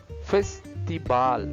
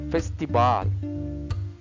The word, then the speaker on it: festival: is different first Festival Festival Festival letter V sound as b letter V the sound is B so fesal fesal very